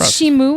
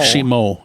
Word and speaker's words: Shimo: Is it Shimu or Shimo? Shimo. It's Shimo. Okay, Shimo. People keep saying Shimu, but it's and it's definitely not Shamu.